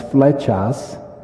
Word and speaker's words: Flechas: for and then my last name is fetas and the word feta drop the s means